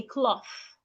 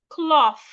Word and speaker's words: cloth: So henceforth, those TH words that you'd ordinarily pronounce as a T, please put your tongue outside instead and pronounce them. Think, anthem, bath, cloth, I believe this is clear.